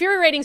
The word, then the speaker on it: infuriating: Andy silly, what's the most inferior infuriating story of the day? I was told twice yesterday I say the word infuriating wrong. They say I put an extra syllable in it.